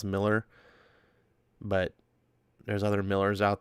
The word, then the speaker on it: Millar: I call him Millar I know his name is pronounced Miller but there's other Miller's